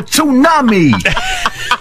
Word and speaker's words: tsunami: It looks like you're driving to a tsunami. A pussy tsunami. I pronounced the T.